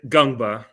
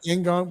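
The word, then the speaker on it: Ngongba: The N is silent. Just say Gungba. Yeah, N is silent. Okay, some say Ngomba.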